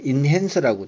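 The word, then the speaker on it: enhancer: 어떤 데는 인핸서라고 되어 있는데 뭐 이거는 우리 발음의 차이니까 영어는 E-N-H-A-N-C-E-R 엔핸서입니다.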